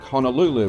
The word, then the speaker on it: Honolulu: I'm coming to you once again live on location from scenic Honolulu, which only coincidentally rhymes with flu.